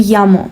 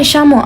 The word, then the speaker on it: llamo: Most Spanish-speaking countries will pronounce double L as y, so you would say yo me llamo. But if you're in Argentina, you're gonna say yo me llamo Ana.